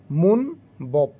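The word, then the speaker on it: 문법: মুন বব, ময় রসৌকার মু, দন্তন্য মুন, ব, বয়ে এটা হচ্ছে ওকার, ব, বিয়োগ উপরে গেলে ব, নিচে থাকলে প। এটা উচ্চারণ করলাম কি ব, এটা উচ্চারণ করলাম প। মুন বপ মানে হচ্ছে ব্যাকরণ, মুনবপ ব্যাকরণ।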